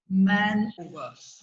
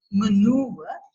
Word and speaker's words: maneuver: And there was an unusual word, she pronounced it unusually also. She said man over. And I was really interested. The actual pronunciation is maneuver.